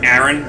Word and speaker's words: Aran: So It's Aran, right? I said it weird on purpose. I think it's pronounced. I think it's pronounced Aaron, like the name Aaron.